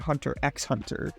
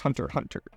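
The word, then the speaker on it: Hunter × Hunter: or the fact that you said Hunter x Hunter and it's pronounced Hunter Hunter definitely I don't know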